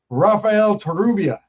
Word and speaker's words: Rafael Torrubia: Raphael Terubia.